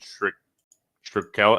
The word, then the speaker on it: Shkreli: They're doing a cool AMA with Martin Shkreli.